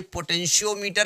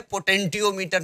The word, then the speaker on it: potentiometer: ये पोटेंशियोमीटर है, पोटेंटियोमीटर नहीं है।